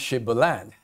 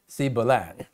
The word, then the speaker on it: Shibboleth: they say we can't they keep saying sibalan and despite the fact